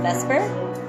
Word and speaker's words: Vesper: I'm one half of Vesper.